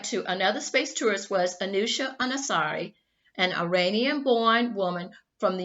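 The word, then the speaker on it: Anousheh Ansari: to go back to another space tourist was anusha anasari an iranian-born woman from the united states who went to the space station in mid-september 2006.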